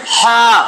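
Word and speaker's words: ح: মাঝখানে হা গলার মাঝখানে যদি একটা আঙ্গুল দেন হা এ এটার একটা সিস্টেম আছে পরে পারবেন এখন এটা উচ্চারণ হবে এইখান থেকে হা একটু জোর দিয়া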